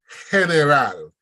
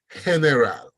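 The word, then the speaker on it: general: are pronounced differently so the first one heneral see the GE sound coming back heneral next one is there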